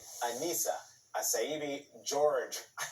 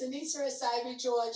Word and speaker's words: Annissa Essaibi George: history joining me now is boston mayoral candidate anissa acaiby george welcome to the sunday show i apologize um for getting your your your name wrong there why are you running that that's